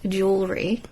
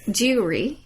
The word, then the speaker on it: jewelry: But I've heard people mispronounce jewelry. Yes, I've got that. It's jewelry. Yes.